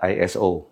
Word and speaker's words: ISO: menampakan malaikat di foto iso banyak yang menyebutnya iso dalam bahasa Jawa artinya bisa yang benar adalah iso exposure diucapkan sebagai exposure atau